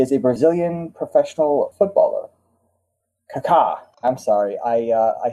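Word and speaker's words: Kaká: Kaka. I'm sorry I uh I said I said his name wrong. There is an accent over the second a.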